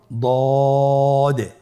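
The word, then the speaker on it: ض: পরবর্তী হরফের নাম হল দ দেখতে একই রকম সদের মতই শুধুমাত্র নুক্তার পার্থক্য সদের মধ্যে কোন নুক্তা নেই দদের মধ্যে নুক্তা রয়েছে দদ হারাফটি উচ্চারণ করার সময় অবশ্যই তিন আলিফ টেনে পড়তে হবে আপনার সাথে বলুন দ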